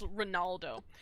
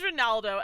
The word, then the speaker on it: Ronaldo: not Leonardo um Ronaldo I keep saying his name wrong it's Ronaldo yeah look but yes it is Ronaldo and basically like he